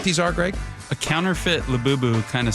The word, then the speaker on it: Labubu: Have you guys heard of Labubus? Did you know? I feel stupid even saying that name. Am I saying that right? Labubu? Yes, you're saying it right.